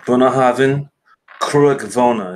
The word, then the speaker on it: Bunnahabhain Cruach Mhona: So another one is the Bunnahabhain Cruach Mhona is how you pronounce that.